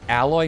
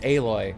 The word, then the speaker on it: Aloy: smaller than she is isn't alloy no it's aloy have you played um